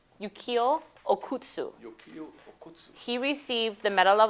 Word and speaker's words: Okutsu: is named after how you say his name yuk okutsu he received the Medal of Honor when um